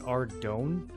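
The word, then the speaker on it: Ardougne: You pronounce it Ardon.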